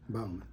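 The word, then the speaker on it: Bauman: your first name n-a-t-a-n Bowman Bowen Bowman Bowman and that's b-a-u-m-a-n m-a-n okay I want to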